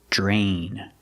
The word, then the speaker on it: drain: draining the pasta pronunciation we see Dr together makes the JJ sound like jump and Juice JJ plus the r j drain other things you can